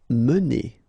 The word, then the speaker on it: mener: mener. Okay, so remember when you get this like that without any accent, so it should be pronounced okay, so it goes like mener.